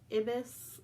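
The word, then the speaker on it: ibus: So we said Ibis, like you're driving a bus.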